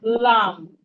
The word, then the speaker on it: lamb: We have lamb, lamb, lamb. The B in lamb is silent.